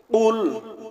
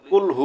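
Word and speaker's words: قل: তিনি আল্লাহ এক অদ্বিতীয় আর আমরা এখানে কুল না বলে যদি আরেকটিতে কাফ আছে গলার ভিতরে না নিয়ে যদি বলি কুলহু আল্লাহু আহাদ তাহলে অর্থ মারাত্মক ভাবে পরিবর্তন হয়ে যাবে অর্থ হবে খাও তিনি আল্লাহ এক অদ্বিতীয় নাউজুবিল্লাহ কুল অর্থ বলো আর আরেকটা যে কাফ আছে সেই কাফ কুল অর্থ খাও আমরা এই জায়গায় মনে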